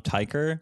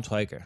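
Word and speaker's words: Tykwer: Now, how do you say the director's name here? Tom Tyker? Tom Twyker. Tom Twyker.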